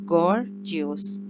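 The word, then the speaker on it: Gorgios: पहले वाला जो जी है उसकी गाफ वाली प्रोनाउंसिएशन है, और दूसरे वाला GIOS, जियोस, गॉर्जियोस।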